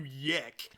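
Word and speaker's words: YIIK: game so first off y2k is spelled y i i k so it looks like yik and that was also when my friend pronounced it when he was first telling me about it so when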